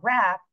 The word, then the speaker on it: wrap: The WR is, you know, really a what we call a silent letter team here in English today, right? And it's really kind of hard for spelling because when we, you know, when you spell ring or wrist or wrap, all you hear is the sound of the R.